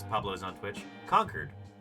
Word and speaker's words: Concord: says Pablo's on Twitch conquered it's pronounced conquered yeah that's where my grandpa lives um that's right next to where I grew up conquered California oh I wish